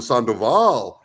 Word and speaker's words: Sandoval: no it's not sand they're like sandal like we don't see sandal like oh Sandoval and I'm like yeah you know whatever I